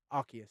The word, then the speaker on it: Arceus: Arceus, right? That's how you're supposed to pronounce it, surely.